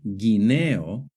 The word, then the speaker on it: guineo: For example, in the word guerra and guineo, the U is silent. But in the word vergüenza and in the word pingüino, the U is pronounced.